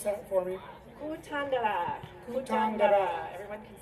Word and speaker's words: Kutandara: Can you pronounce that for me? Kutandara.